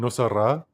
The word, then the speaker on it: Nosara: where was I, in Nosara? I went there last year or the year Where is before. Nosara? Nosara, in it's like No Sarah is how it's spelled.